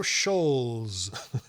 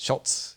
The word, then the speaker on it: Schultz: Do that, and I wanted to know the stories now, is it behind pronounced the Schultz or Scholes? It's Schultz, yeah.